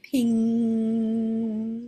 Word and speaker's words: ping: Okay, ping mm, pong. So when we have the NG, we don't actually say the G. It is a sound that is made in your throat by the vibration.